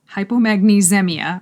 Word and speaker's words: hypomagnesemia: in the brain so hypomagnesia hypomagnesemia hypomagnesemia okay that's how you say it that is like